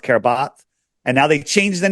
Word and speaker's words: Kiribati: Formerly, I used to call it Kiribati, but it's pronounced Kiribati.